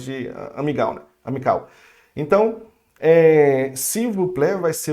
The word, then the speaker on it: s'il vous plaît: Aqui, ó, olha só, o A com I, de novo, fica E, ok? Nesse caso, s'il vous plaît.